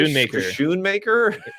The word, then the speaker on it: Schoonmaker: Luke Schoonmaker, is that right? Schoonmaker. Yeah, sounds like a ship or something.